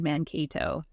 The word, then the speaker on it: Mankato: Mankato. Thank you, everybody, for correcting my pronunciation. Mankato, Minnesota.